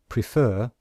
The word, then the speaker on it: prefer: Example, the word prefer, can you hear that we stress the second syllable? And in IPA, we show that with this symbol here to show that this is the syllable which we stress.